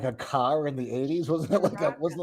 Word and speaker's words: Sriracha: Chirac.